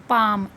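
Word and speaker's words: palm: पाम, एल एम है लेकिन यहाँ पे क्या पढ़ते हैं, पाम, एल यहाँ पे भी क्या होता है, साइलेंट होता है।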